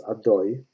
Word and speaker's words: Adoi: Number 10, it says it's Yud K Vav K. Pronounce Adoi. I'm going to continue, Adoi. But also all names that designated as the names of Hashem, may he be blessed.